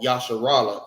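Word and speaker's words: ישראל: They are called Yasharallah in the Hebrew, and it means he is Prince of the Power.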